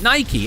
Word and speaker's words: Nike: Nike is my favorite one. I'm pretty sure I brought this up one of the other times I played Infinite Pizza. Nike. They pronounce it Nike.